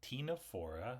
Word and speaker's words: Ctenophora: comb jellies so they're in the phm Tino for the sea is silent um and the Tino part means comb anytime you see that coming